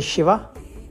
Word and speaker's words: Shiva: In south, we say Shiva.